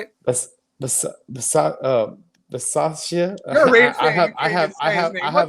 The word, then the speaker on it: Bisaccia: Bisaccia.